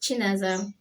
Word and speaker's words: Chinaza: My name is Chinaza. Naza for short.